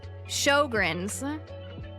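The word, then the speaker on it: Sjögren's: Shogrins.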